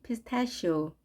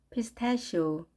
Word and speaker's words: pistachio: 발음은 pistachio, pistachio. 우리말로는 피스타치오라고 하지만 영어 발음은 pistachio. ch가 she 발음이 됩니다.